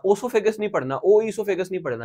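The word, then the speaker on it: oesophagus: तो इसको ओइसोफेगस नहीं पढ़ना, ओसोफेगस नहीं पढ़ना, ओइसोफेगस नहीं पढ़ना, यह है ईसोफेगस।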